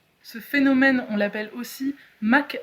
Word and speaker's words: Mach: Mach qui s'écrit M-A-C-H d'ailleurs, je précise. C'est vrai. Parce que moi je l'aurais prononcé Mach. Mach 1, Mach, tu vois. C'est beaucoup moins stylé.